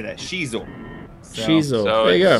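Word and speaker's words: Xizor: And for the record, guys, it's pronounced Shizor.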